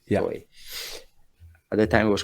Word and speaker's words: Toei: And this is spelled Tohi, right? Am I or Toei? EI, right? Yeah, that's it. Toei. Yeah. Toei.